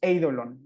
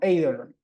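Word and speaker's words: εἴδωλον: va a pasar con el acento se va a escribir sobre la segunda de la vocal del diptongo pero recae digamos sobre la primera Entonces eidolon no no eidolon no sino Idol en este caso o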